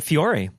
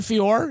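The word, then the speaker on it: Feore: Oh yeah, Colin Fiori. Yeah. Shakespearean trained actor. Yeah. Uh Colin Fior actually is his how he pronounces it.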